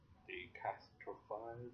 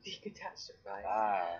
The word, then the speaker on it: decatastrophize: We got delay, distract, deep breathing, decast, decastrophize. Decatastrophize. That's how you say it.